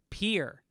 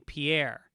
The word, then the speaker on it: Pierre: of south dakota is actually pronounced pier and not the way it looks to be pronounced with the french sounding pierre stupid south dakota i